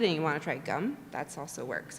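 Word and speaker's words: gam: So you know if if doesn't feel good and you want to try gum, that's also works. It's spelled G- A M but it sounds like gum.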